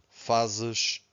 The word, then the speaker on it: faz: Faço, fazes, faz. So here, Z at the end, we have a sh, faz.